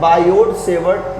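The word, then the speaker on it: Biot–Savart: ठीक है, चलिए आइए अब हम पढ़ते हैं बायोट-सेवर्ट लॉ। बायोट-सेवर्ट, इंग्लिश का प्रोनाउंसिएशन यही है, बायोट-सेवर्ट लॉ।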